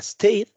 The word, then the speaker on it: stayed: Y finalmente, este ejemplo que es stay, tenemos ahí en el pasado simple sería stayed. Y otra vez, de la Y nos vamos hasta la letra D.